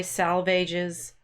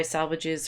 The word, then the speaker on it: Salvages: East Coker the dry salvages I'm not sure how to say that it's supposed to rhyme with the swages the die salvages um